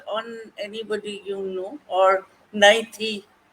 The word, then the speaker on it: Naithi: Or Naithi? Naithi, that's the pronunciation, isn't Yeah, it?